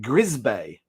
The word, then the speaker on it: Crisbec: also referred to as Crisbec, but the locals call it Grisbay. They pronounce it with a gr at the front, not a cr.